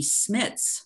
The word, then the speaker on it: Smits: My last name will be Smits, which rhymes with shits.